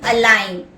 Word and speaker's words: align: Align, A-L-I-G-N, where the letter G is silent.